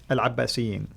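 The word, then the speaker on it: العباسيين: And the Abbasids, how do you pronounce it? Al-Abbasiyin.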